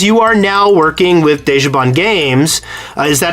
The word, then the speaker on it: Dejobaan: you on because you are now working with Deja Bond games is that how they pronounce that desjaban yeah and uh and you guys are working